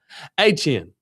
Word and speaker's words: Etienne: Achan.